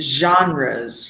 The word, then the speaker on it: genres: It's genres, right? Very soft G.